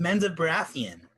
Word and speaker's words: Menzoberranzan: I've never been to the Underdark or Menzoberranzan. Don't worry, hon. Everybody pronounces it wrong the first time. I imagine the fifth. It's pronounced Menzoberranzan.